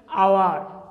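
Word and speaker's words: hour: এস যে অক্ষরটি এটা কিন্তু কনসোনেন্ট, হলে তার উচ্চারণ যদি বাইলের মতো উচ্চারিত হয় তখন ওয়ার্ডটি আগে এন বসে। যেমন এন আওয়ার, আওয়ার মানে ঘন্টা, এক ঘন্টা, কেমন?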